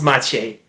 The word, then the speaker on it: Maciej: I'm sorry, but my it's- Polski is bad. but it's pronounced Maciej.